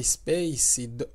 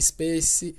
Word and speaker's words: SPICE: a força aérea brasileira usando a Space ou Spice né acho que a pronúncia em inglês é Spice Spice 2000 por isso